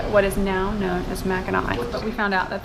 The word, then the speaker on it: Mackinac: great turtle forming what is now known as Mac and I but we found out that the French kept